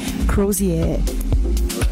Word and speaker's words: Crozier: with a very special guest with us today crosier did I pronounce this well yeah yeah that's perfect cier welcome welcome and we will be together until 400 p.m.